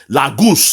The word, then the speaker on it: Lagos: Lagos, that's the real pronunciation. Lagos, it means lake, a lakeside. It is a Portuguese word.